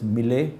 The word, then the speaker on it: Millet: don't know then there's M Millet yeah that's pronounced as M it's a French brand um so these are